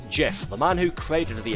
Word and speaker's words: GIF: It's pronounced Jeff.